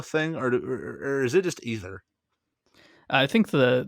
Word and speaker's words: Aether: or is it just either I think the the official word is pronounced ether but it's been pronounced